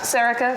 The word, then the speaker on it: Sorcha: Pronounced Sorcha, spelt Sorcha.